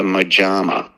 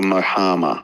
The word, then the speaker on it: mojama: So I've just started a mojama, or mohama, I think it must be pronounced, because it's Spanish.